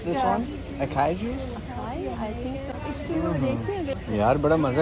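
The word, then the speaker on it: açaí: चलो जी, हमें इसकी प्रोनाउंसिएशन भी पता चल गई है। Acai juice, it's organic acai juice, 499, इट्स नॉट बैड।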